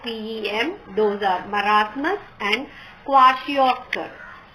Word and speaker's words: kwashiorkor: main kinds of pem those are marasmus and kwashiorkor pronounced as kwashi or cor okay so these are the two diseases so